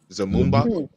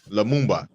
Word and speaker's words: Lumumba: Zamumba. With an L. Lumumba.